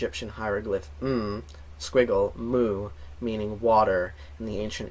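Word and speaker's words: μ: and also the Greek letter and and it's pronounced mu and there's a Greek letter which is also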